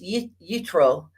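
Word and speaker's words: Yitro: time at Jethro's suggestion his Hebrew name is pronounced y utro 70 Godly leaders were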